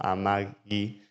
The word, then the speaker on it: Amagi: montón de símbolos, pero se pronuncia como Amagi con un guión en el medio.